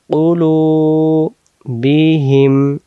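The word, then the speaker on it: قُلُوبِهِمْ: তাহলে এখানে ওয়াটাকে আমরা টানে নিয়ে যাব লু, লু উলু। বাজের বি, হাজের হি, হি মিলবে মিমের সাথে হিম। এই যে এটাও হিম, এখানে বি হিম। আলা উলু বিহিম, এখান থেকে খতামাল্লাহু, এটা আলা, এটা উলু বিহিম।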